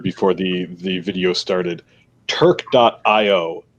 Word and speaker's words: Turq.io: to keep us pure but uh yeah yes turk dot io t u r q dot io i know where we're spell it's a shirt for turquoise that's our branding